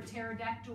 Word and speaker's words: pterodactyl: can't you hear a pterodactyl go to the toilet because the silent because pterodactyl is spelt PT ot AC Tyl very good how's my